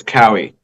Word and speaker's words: Cowie: last name So, pronounced it's Cowie, not Cowie. Cowie.